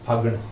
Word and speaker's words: फागण: माह को माह बोलेंगे, घ की जगह है का उच्चारण होगा, और फाल्गुन की जगह फागण, ठीक है, फागण।